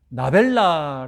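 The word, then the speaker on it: נָבְלָה: 혼잡하게 하자 히브리어가 나벨라. 비슷한 발음으로 여러분 개그 프로그램 보면 먼저 A가 말을 하면 B가 비슷하게 발음하면서 말도 안 되는 상황, 웃기는 그런 멘트를 이렇게 주고받지 않습니까?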